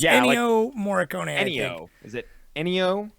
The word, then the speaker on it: Ennio: Ennio.